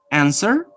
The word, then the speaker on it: answer: Answer, no answer, answer, to, who, whole, right, wrong. So you don't pronounce, remember, you don't pronounce the sound W. So we have a silent letter W.